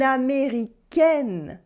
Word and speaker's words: Américaine: Un Américain becomes une Américaine with the sound E.